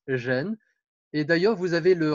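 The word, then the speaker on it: 仁: un caractère extrêmement riche il se prononce gêne exactement comme le mot homme gêne et d'ailleurs vous avez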